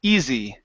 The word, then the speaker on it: easy: try that last word let's try a z sound here we're going to say e z easy easy there you go it